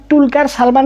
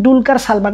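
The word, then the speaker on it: Dulquer Salmaan: আগে থেকে জানতে পেরেছি উনার নাম টুলকার সালমান না উনার নাম ডুলকার সালমান কিন্তু আমাকে ওনাকে দুলকার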